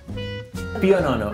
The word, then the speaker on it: pionono: Pio nono, oui, c'est un italien. Se prononce comme ça, oui.